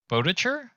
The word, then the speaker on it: Boettcher: i think i'm going to get your last name wrong it's james bodacher that's the one and it is the right